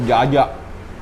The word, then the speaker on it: Djaja: Ini nama Padangnya tulisannya Pondok Jaja. Dia sebenarnya namanya Pondok Jaya guys. Cuma dia ejaan lama jadi tulisannya Jaja.